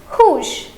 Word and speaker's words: rouge: The pronunciation will be same. That is rouge.